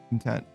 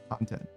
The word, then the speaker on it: content: Is it stressed voiced syllables? Content. Content. Content. Yeah, that's what it is. You do the second syllable for one of them.